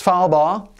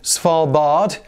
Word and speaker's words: Svalbard: Oh, also, I'll just add before we get started, this is pronounced Svalbard. There is no D on the end, and that's how I'm going to pronounce it throughout this video, even though Svalbard is an accepted pronunciation.